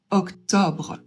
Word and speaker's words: octobre: Le deuxième, par contre, c'est pas optionnel, ça va être un haut ouvert. Donc, on prononce octobre.